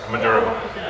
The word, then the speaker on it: Maduro: Maduro.